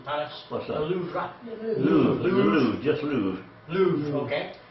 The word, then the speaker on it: Louvre: Louvre, Louvre, just Louvre. Louvre, okay. A bit like a loo brush.